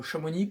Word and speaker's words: Chamonix: Et je sais, t'es encore totalement choqué de mon appellation Chamonix, c'est évidemment une moquerie. On ne prononce pas le X.